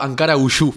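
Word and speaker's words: Ankaragücü: Primero Ankara Guyu es la pronunciación, que quiere decir la fuerza de Ankara.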